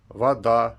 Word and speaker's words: вода: Например, река, ударение на последний слог, рекам, ударение на первый слог, вода, воду. То есть вода на последний слог, воду на первый слог.